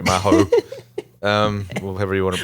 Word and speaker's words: Mahou: It's been so long that I forgot you pronounce it Mahou. Sorry, Mahou.